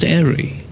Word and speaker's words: Airey: The E is silent. Still pronounced Airey.